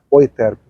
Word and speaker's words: Euterpe: sociedade musical ou interp escreve euterpe mas a pronúncia em alemão é o eterno e vinha gente de